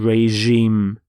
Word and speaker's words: regime: is changed to Reg but reim notice the pronunciation of the G is the sound reim so the F the fascist regime of Germany